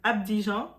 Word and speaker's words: Abidjan: Il est mort le 24 avril 2016 à Abidjan. Ah my god, comment on le prononce?